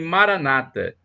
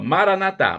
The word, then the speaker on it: Maranata: aqui essa expressão Maranata os protestantes dizem Maranata com a tônica na penúltima sílaba os católicos coloca uma tônica na última sílaba Maranata mas o significado é